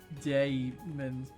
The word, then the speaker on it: daemons: It's like, it's basically like daemons, where D-A-Y in terms of pronunciation.